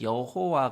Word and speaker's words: 여호와: 바로 여호와 가 되겠습니다 엄밀히 말해서 사실 여호와 가 하나님의 이름에 진짜 우리 지날 발음 인지는 알 수가 없어요 원래 히브리어 에는 자음 밖에 없는데 거기에 아도나이 나의 주님 이라는 단어에 모음 을 따서 읽기 는 아도나이 라고만 읽었습니다 그러다 보니 거기서 하나님의 이름이 여호와 로 발음되는 현상이 나타난 겁니다 요즘 학자들은 원래 발음이 야외 였을 것이다 이렇게 추측을 합니다 사실 하나님의 이름은 어떻게